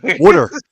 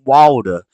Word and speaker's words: water: In the North, it's wooder. If you go to Philly, it's wooder. If you go to the South, it's water. If you go anywhere else, it's water. It's different pronunciations of the same word, which all comes from NGR originally.